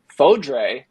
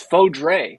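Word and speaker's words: Fodrey: Austin that became CJ fodre did learn on his interview with Texas Ring of Fire and our buddy rb22 it is foe Dre not fo Dre so I'm training myself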